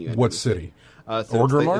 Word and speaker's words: Orgrimmar: Is that how did I pronounce it right? Mm-hmm. I'm always worried about those. Orgrimmar. Yep.